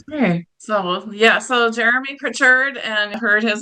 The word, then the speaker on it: Prichard: I would like to my last name phonetically has a t in it but grammatically it does not so my last name